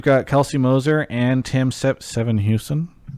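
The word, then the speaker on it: Sevenhuysen: Anywho, welcome to the second half of the show where we've got Kelsey Moser and Tim Seven Houston. Did I say it right? Houston. Okay, I did it right.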